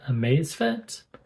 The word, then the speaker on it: Amazfit: watches this time three this is the amazfit Falcon some people pronounce it amazefit but yeah it's the